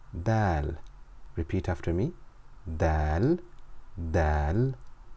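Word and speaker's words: دال: begin with the letter Dal repeat after me Dal Dal Dal Dal makes a D sound like in the English word dinosaur so repeat after me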